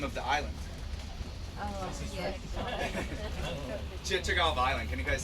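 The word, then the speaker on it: Chichagof: Chichagov Island. Can you guys say Chichagov? Chichagov. Awesome. I'll make sure we can pronounce it by the end of this tour. can just call it Chicago if you really want to.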